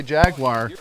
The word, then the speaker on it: Jaguar: fun of me because I say jaguar I put a video of an XK 120 up the other day and they were like It's pronounced Jaguar well where I grew